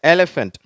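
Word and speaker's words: elephant: அதுதான் அடுத்தது எலிபன்ட் சரியா எலிபன்ட் இந்த ஏ அப்படிங்கறது கொஞ்சம் நல்லா உச்சரிக்கிறோம் அழுத்தி என்வலப் சரியா என்வலப் இப்ப உங்களுக்கு எலிபன்ட்னா தெரியும் யானை சரியா அததான் எலிபன்ட் அப்படின்னு சொல்றோம்.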